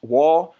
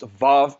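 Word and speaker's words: ו: Then we see the Wah, which Wah is pronounced Vav in modern Hebrew, but there was no V in the ancient Abrit in the Hebrew.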